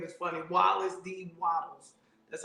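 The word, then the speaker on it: Wallace D. Wattles: by wallace d wilds his name is funny wallace d waddles that's how you say his name she didn't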